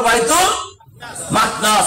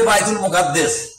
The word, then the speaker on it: বাইতুল মাকদাস: পারবেন নাকি বাইতুল মাকদাস আরবি উচ্চারণ হলো বাইতুল মাকদাস আর আমরা বাংলায় বলি বাইতুল মুকাদ্দাস কি বলি না এটা ছিল